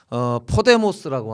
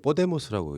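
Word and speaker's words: Podemos: 그런데 포데모스라고 하는 유명하죠. 예 15M이라고 하는 그런 운동을 바탕으로 발음이 좀 틀렸어요. 원래 뽀데모스라고 있어요.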